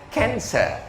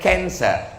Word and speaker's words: cancer: C A N C E R bahasanya kanser. Orang kita susah bacanya iki bacanya opo ya? Cancer. Cancer. Orang Barat nyebutnya kanser.